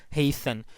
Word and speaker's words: hasten: same case is here hasten you know the spelling h a ste and so you know T is silent here so it has nothing